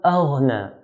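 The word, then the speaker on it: أغنى: Then we have the word aghna. Hamza here is one of the light letters, so we pronounce hamza in a light manner.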